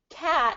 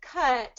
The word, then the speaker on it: cut: you can see when someone says cat instead of cut but it's confusing right yes say I I